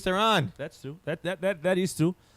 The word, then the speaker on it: Theron: It's Tehran. That's Charlize Theron.